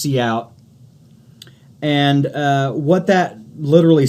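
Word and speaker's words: cout: uh it's pronounced see out and uh what that literally stands for is the output window.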